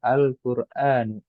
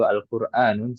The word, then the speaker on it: القرآن: Nah, kita bacanya yang benar Al-Qur'anu. Al-Qur'anu. Ya, seperti ini. Kalau kita ada tanwin ya di situ Al-Qur'anun salah ya.